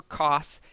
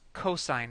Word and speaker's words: cosine: cosine function and it is spelled cos don't pronounce that Coase or cost it's cosine it's just an abbreviation so cosine function and